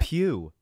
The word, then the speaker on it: Pugh: i just thought lawrence pugh like florence did you say pug is that not how you say it pew oh god why the